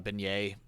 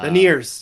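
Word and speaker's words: Beniers: I really hope uh Maddie uh beignet yeah not pronounced like the food I've got the food stuck in my head uh veneers veneers thank you oh my god oh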